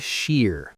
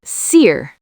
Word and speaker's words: shear: Seir. Your s sound is too soft. It sounds like c. You need to make a shh sound like when you tell someone to be quiet.